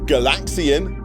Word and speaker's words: Galaxian: Galaga, because it was a sequel to Galaxian. Again, emphasis on the second syllable. Galaxian, Galaga.